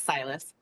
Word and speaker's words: Silas: Silas? Am I pronouncing it right or wrong? Silas, yes, it's Silas.